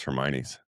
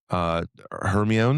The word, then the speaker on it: Hermione: Like, how did you pronounce Hermione's? Yeah, Hermione. Hermione.